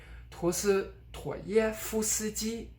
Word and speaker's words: 陀思妥耶夫斯基: So for instance, this is Dostoevsky. 陀思妥耶夫斯基。陀思妥耶夫斯基。I'm not saying 陀思妥耶夫斯基, but rather 陀思妥耶夫斯基.